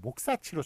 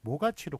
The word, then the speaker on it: 모가치: 그래서 목사치로 적어야 할 것이지만 사람들이 그 원형을 어원적인 형태를 인식하지 못해서 또 발음도 모가치로 굳어져 있습니다. 그래서 목사치라고 발음하는 사람 아무도 없고 모가치로 굳어져 있으니까 그래서 관용에 따라 그냥 모가치로 적기로 한 겁니다.